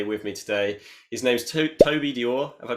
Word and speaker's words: Toby Dore: His name's Toby Dore. Have I pronounced that correctly?